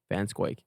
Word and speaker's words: Van Schaick: We have none other than the one and only Faith Anne Vansquake. Ansquake. No one pronounces your name right.